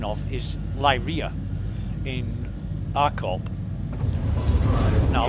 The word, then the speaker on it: Lyria: Now, a lot of people call it Lyria. I call it Lyria because there's a series of celestial bodies called Beta Lyria. And it's spelt differently, but because of that name, I call Lyria Lyria.